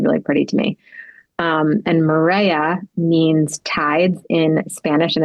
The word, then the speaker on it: Marea: So we wanted to give some time and attention to your latest project and resort collection for Marea. Am I pronouncing it correctly?